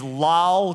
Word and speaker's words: Lol: and his name is Lal Crawley. His name is Lal? Yes. It's spelled L-O-L?